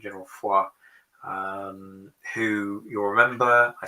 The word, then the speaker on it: Foy: And we have appreciation coming in from Mark for General, so it's General Foy, actually, I believe is the French pronunciation, General Foy, who you'll remember I said was commanding at the Chapel of Nuestra Senora de la Peña.